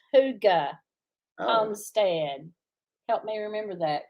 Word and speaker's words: hygge: just found out how to say it it's hygge homestand help me remember that cause i'll forget